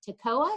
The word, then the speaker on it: Toccoa: By the way, my nephew is the assistant fire chief for Toccoa. Did I pronounce that right? Yes, you did. Toccoa is correct.